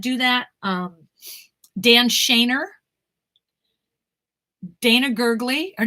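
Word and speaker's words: Gergely: If you want some names of people that do that, Dan Shaner, Dana Gurgley. Her name is Donna Gurgley, but it's spelled D-A-N-A.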